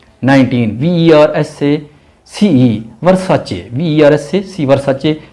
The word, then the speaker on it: Versace: 19 VERSACE, वर्साचे, VERSACE वर्साचे, CE को आपने CH pronounce करना है, वर्साचे इटालियन ब्रांड है।